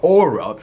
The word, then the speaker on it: Aura: Now, A-U-R-A is aura, like your aura, but at the same time, it's aura. Aura, like hurrah. That's how it's pronounced specifically.